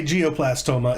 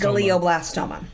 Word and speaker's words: glioblastoma: I can't pronounce it you're very close when you say geoplastoma it's glioblast glioblastoma so I don't know